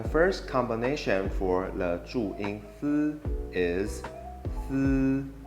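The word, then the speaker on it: ㄙ: The last Zhuyin for this episode is going to be the Zhuyin Si, and it has a similar sound to the English combination SI.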